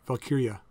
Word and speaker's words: Valkyria: I don't think it's jaw. I think it's pronounced with a Y. Valkyria.